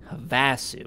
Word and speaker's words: Havasu: things started getting hairy i went here instead havasu all right that's how to pronounce it all right havasu blues why the